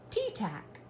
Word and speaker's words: Petach: Yes, I did, and my name is not weird. It's pronounced P-Tack. Well, ladies and gentlemen, I hope that you have enjoyed Goldilocks and the Three Hares by P-Tack.